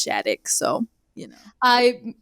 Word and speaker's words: Schadeck: me it's at most people can't pronounce my last name they always ask it's shattick so you know i